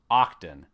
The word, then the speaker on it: Oqton: the nesting of crowns and printing they're called octan now it's spelled a little different o q t o n octane sits down to explain how this amazing software